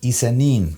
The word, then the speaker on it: ISE-NIN: out the black corporation isanim that is how you say these characters here in case you didn't know i-s-e-n-i-n I didn't know